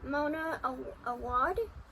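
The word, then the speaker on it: Mona Awad: Spider money by Mona Aad.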